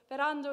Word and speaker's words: Ferrando: randall pronounced fair randolph kind of an open o at the end give it a go